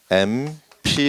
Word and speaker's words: MP: 어떻게 발음 하나 요 ? " 엠피 " 입니다 . 발음 할 때 "eh" 소리 가 나니까 " 국회 의원 (MP)" 이라 고 해야 해 요 .